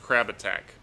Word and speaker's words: Crabatic: P-S, my name is pronounced Crab Attack. Crabatic.